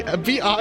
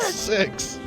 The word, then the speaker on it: Vi: It's V. Vi is her name. It's not it's not pronounced six.